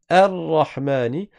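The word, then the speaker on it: الرحمن: Ça veut dire que quand tu commences la lecture par le bâton, tu vas le prononcer, tu dis Ar-Rahmani.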